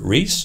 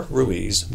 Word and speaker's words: Ruiz: Ruiz: I am professor Ruiz (pro. ‘Reese’) or Ruiz (pro. ‘Ru-iz’), my name gets pronounced many different ways.